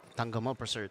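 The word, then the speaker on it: Tangkamolprasert: How do you Tangkamol pronounce it? Prasert. Tangamo Prasert.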